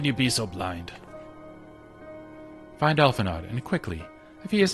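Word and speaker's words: Alphinaud: It's pronounced Alphanod. I'm going to say Alphanod. I don't like him, so I'm going to mispronounce his name on purpose. How pretentious is it to put an aud?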